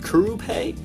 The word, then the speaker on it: Curupay: And the fretboard is made of, I think it's pronounced Curupay, C-U-R-U-P-A-Y.